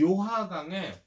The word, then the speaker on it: 요하강: 강이 하나 흘러가는데 이 강 이름이 요하강이라는 강이야. 중국식 발음으로는 랴오허강이라고 불러. 근데 이 요하강의 동쪽이다 해서 요동 지역이라고 부르고 요하강의 서쪽이라 그래서 요서 지역이라고 불러.